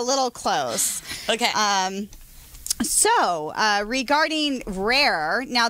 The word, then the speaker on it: RA+RE: So, regarding RA+RE, now there is a French way of saying it, which I cannot roll my R's, so I'm not going to try. So how do you say it? I say RA+RE. I can't say the French version either. Okay. Because I'm Latin, but RA+RE. Okay, so there you go. I'll say rare. Rare.